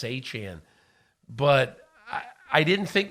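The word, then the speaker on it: Achane: him and he said yeah it's a chin but I I didn't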